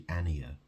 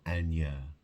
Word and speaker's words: Ania: You see, I used to call her Anya. It's actually Ania. It's Ania, not Anya.